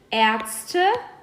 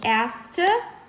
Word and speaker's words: Ärzte: So, der Arzt, die Ärzte. As you guys can hear, we go from A to E. That's the pronunciation. Der Arzt, die Ärzte.